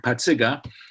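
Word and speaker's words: Pacyga: But in my grammar school, 99.9% of the people were Polish, and everybody knew how to really pronounce my name, which is not Pasiga, but Patsiga.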